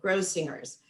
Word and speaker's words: Grossinger's: And Grossinger's is with the hard G, Grossinger's.